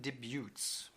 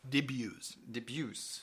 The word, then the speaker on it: debuts: Compute Magazine debuts. Debuts. No T, yes. The T is silent.